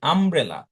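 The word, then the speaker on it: umbrella: Because আমি যখন বলছি আমব্রেলা, তখন দেখো তো এই ইউ এর উচ্চারণ হচ্ছে এর মতো, আম, তাই না? তাহলে এটা ভাওয়েল সাউন্ড। কিন্তু যখন আমি বলছি ইউনিয়ন, যখন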